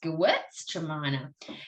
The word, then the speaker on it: Gewürztraminer: Traminer's the end, but it's Gewürztraminer.